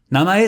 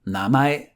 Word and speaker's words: 名前: 名前 sounds similar to its English translation name, 名前.